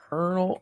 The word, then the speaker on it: colonel: How is it Colonel when it's spelled COLO? How is that Cur?